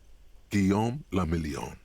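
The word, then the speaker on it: Guillaume Le Million: meant only one thing guillaume lamillion france if it doesn't rhyme you're not pronouncing it right out of the dazzling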